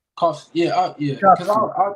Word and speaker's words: Kofsky: Kofsky?